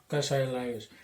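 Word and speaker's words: Kassai Lajos: training, especially about the horseback archery school of Kasai Lajos, or how, if I've pronounced his name correctly. Lajos. Kasai Lajos.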